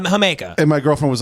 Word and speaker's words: jamaica: of called the it's it's spelled Jamaica is the drink yeah yeah yeah hamaica and my girlfriend was